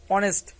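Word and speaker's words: honest: এন ই এস টি অনেস্ট শব্দটা কি দিয়ে শুরু হয়েছে শব্দটা কিন্তু শুরু হয়েছে কনসোনেন্ট দিয়ে অর্থাৎ এইচ দিয়ে কিন্তু এই কনসোনেন্ট দিয়ে শুরু হলেও এর উচ্চারণ কিন্তু হচ্ছে অনেস্ট অর্থাৎ প্রথমেই চলে আসতেছে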